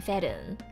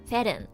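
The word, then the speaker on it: Fern: I know, Furiren, Ferun. That's why I say their names in the Japanese pronunciation, so it's like less confusing. Furiren, Ferun, Shitaruku.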